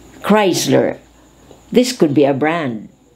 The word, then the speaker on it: Chrysler: who attends to patients with neuro muscular problems chrysler chrysler this could be a brand of an automobile